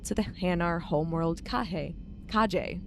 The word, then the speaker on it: Kahje: Kahje, right? You actually pronounce the J.